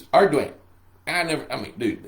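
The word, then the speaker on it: Ardoin: It's spelled A R D O I N. And I called him Arduan. Arduin. I It's Arduin.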